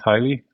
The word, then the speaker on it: Hyli: So, uh the sound is the same. We went from highly to highly, but we tweaked a letter.